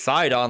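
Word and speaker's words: Sidon: like you're an idiot it's side on like Poseidon like Poseidon and like oh well that makes a lot more sense um but I used to say that pronounce it as side on in the breath I actually looked it up then the cuts in the age of Calamity at least they pronounce it aside on yeah yeah so correct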